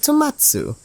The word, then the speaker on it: Tomatsu: with the man named Tomatsu which rhymes with tomato for some reason who